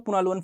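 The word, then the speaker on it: Punaluan: अलुन family ठीक है इसको अलग-अलग तरीके से लोग अ प्रोनाउंस करते हैं आप पुना लवन इसको बोल सकते हो पुना लवन फैमिली है पुना लवन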